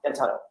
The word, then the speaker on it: D'Antano: So you and Ricky And how do I pronounce his last name? D'Antano? D'Antano.